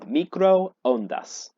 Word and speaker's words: microondas: Now, in English, when we see a double O, we usually will say u, like in the English word two. However, in Spanish, we're actually going to pronounce each of those O's separately.